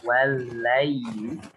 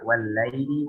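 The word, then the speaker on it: وَاللَّيْلِ: Maka ketika membaca wal-laili, kita harus membacanya secara lemah lembut ya. Bagaimana disampaikan, madlib itu adalah ikhrajul huruf bisukulah, yang mengeluarkan huruf dengan lemah lembut. Sehingga ketika membaca madlin wal-laili, bukan wal-laili, seperti itu ya.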